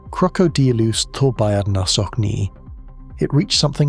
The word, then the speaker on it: Crocodylus thorbjarnarsoni: In 2012, paleontologists Christopher Brochu and Glenn Storrs described a crocodile from that lake basin they named Crocodylus thorbjarnarsoni, pronounced Crocodylus thorbjarnarsoni.